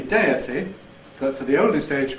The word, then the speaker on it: deity: Here's a similar graph, or graph, for the words deity taking over from deity, ate as the past tense of eat taking over from et, and patriotic taking over from patriotic.